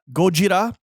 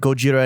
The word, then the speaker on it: Gojira: japanese creation of course the original the actual name is gojira you